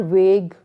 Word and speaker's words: vague: So the answers are vague, mog. Where only VAG, we will pronounce only VAG and UE is silent.